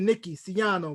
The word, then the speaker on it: Nicky Siano: you jerome thank you how am i saying your name right yes sir you are pronouncing my name correctly now i appreciate you